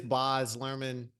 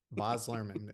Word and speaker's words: Baz Luhrmann: And and it is Bos Lurman because I wanted to be sure I pronounced that right. I I didn't want to say Baz and if it's not come at me, bro.